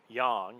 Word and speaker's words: yang: It's the yin and the yang, or yang, as it's properly pronounced.